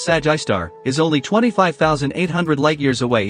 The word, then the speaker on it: Sgr A*: While Sagittarius A, or SGRA, pronounced Sag-I-Star, is only 25,800 light-years